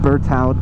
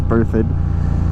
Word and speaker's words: Berthoud: before but i've always wanted to and that's birthed pass i still think it should be pronounced burt out but i understand that it's birthed and that is a road that leads north